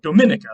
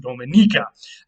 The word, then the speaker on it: Dominica: Both of them are in the Western Hemisphere, in the Caribbean, and one of them is the small island nation of Dominica, or sometimes pronounced Dominica.